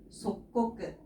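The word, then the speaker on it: 即刻: 근데 꾸로 끝나기 때문에 뒤쪽에 카가 만나면서 속꼬끄. 속꼬끄라고 읽어주면 되겠습니다.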